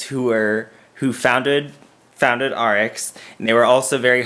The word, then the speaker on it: ARIIX: my series on rx the company that sounds like rx but it's spelled a-r-i-i-x you okay like all